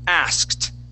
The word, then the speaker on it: asked: to use that uh that Ed ending will be a t sound so we'll say asked try that asked ask